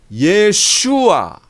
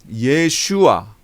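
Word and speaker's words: ישוע: 로 바꾸는 거예요 그렇게 예수님 이름도 예 슈와 나 돼야 되요 이게 원래 발음이 요 예 슈와 또는 예 호 슈와 이게 원래 발음 이거든요 그런데 이런 것들이 다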